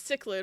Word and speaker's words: cichlid: It's cichlid, right? Because every time I see it, I'm like, the child. That's not what it says.